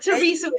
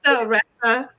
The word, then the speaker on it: Theresa: thank you so much Teresa I love the pronunciation of your name it's not Teresa guys it's Thea yes yes well thank you it was so